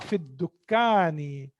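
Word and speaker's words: في الدكان: Huwa fid dukkani. Again, dal is also harfu shamsiyya. So that's why I'm not pronouncing lam here.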